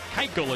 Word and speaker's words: Keuchel: Keuchel, it's pronounced.